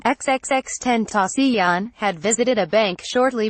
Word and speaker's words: XXXTentacion: investigators also told him the 20 year old rapper who pronounced his stage name xxx 10th osteon had visited a bank